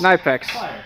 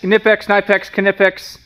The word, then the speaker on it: Knipex: can't even the the something repliers it's Knex knipex Knex knipex I've heard it about 15 different ways all